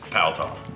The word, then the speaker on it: Paltauf: I was saying his last name wrong. There's no U in the first part, it's just Paltauf.